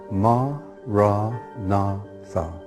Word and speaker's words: Maranatha: you choose that word say it has four syllables ma nah thoug listen to the word